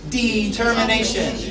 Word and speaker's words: determination: Remember the stress is on the DE. Determination.